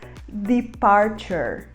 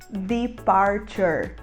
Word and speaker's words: departure: termina com E, em geral a gente não pronuncia a letra E no final. Então a gente vai falar departure, departure.